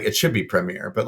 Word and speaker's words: Premier: we should pre it's like it should be Premier but like we don't have there's no chance